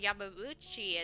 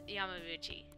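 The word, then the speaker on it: Yamauchi: anyway i heard they're going to get mr yamabuchi as their new advisor huh yabbabuchi hold on that yeah yeah yeah it's yamamuchi oh my gosh i am very bad at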